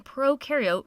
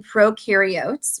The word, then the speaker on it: prokaryote: like to remember that pro in prokaryote rhymes with no and you in eukaryote